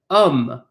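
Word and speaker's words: homme: man in French is um um this it means this means man we do not pronounce the H we pretend it's not there so when we have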